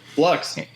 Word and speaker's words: Fluxx: Uh he has a big movie coming out this week, Flux. That's how you say it, right? That's right, Flux.